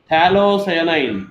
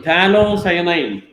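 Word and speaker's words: phthalocyanine: this is T cyanine talo cyanine pH is silent there d h a l c y a n i n so tanine pH is silent there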